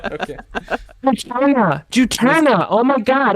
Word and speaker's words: Juturna: Juturna. Oh my God! I thought there was an A before the N.